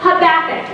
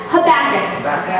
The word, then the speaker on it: Habakkuk: But his name is Habakkuk. He was a prophet in the Old Testament. Say that real fast. Habakkuk.